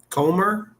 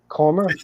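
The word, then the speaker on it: Kummer: CR K U M R how do you pronounce that? Say again. Comr. Comr. C U M E R. Comr.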